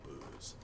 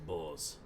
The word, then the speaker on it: Boz: You too, Booze. Am I pronouncing that right? I think it's boss. Boz. Boz. That's more like it.